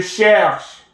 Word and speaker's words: cherche: Je cherche, silent. Tu cherches, silent. The E is silent, ES is silent.